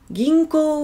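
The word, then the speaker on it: 銀行: « Ginko wa arimasu ka ?»« Ginko wa arimasu ka ?» Alors, ginko, prononciation toujours, ginko, on allonge le dernier O, ginko o.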